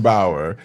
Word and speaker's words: Bauer: If I'm pronouncing her Bauer. Like Eddie or Jack. There you go, Bauer. So I'll take Jack. Sarah Allyn Bauer, as I said, is COO of Towne Street Theatre.